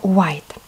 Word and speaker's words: white: милый на n 9 обратите пожалуйста внимание на слово white здесь зачеркнутый буковки которые не читаются слове white буковка речь пишется ребятки но она у нас молчит она немая не читается white всего лишь в этом